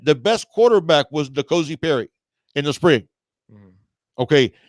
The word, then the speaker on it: N'Kosi: Cozy.